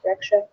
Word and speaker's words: breccia: And it's spelled Breccia, but pronounced Breccia.